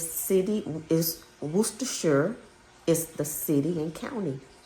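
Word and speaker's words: Worcestershire: And worsta is the name of a English um city and shore it's pronounced shore is the county. So it's city is worshure is the city and county in England.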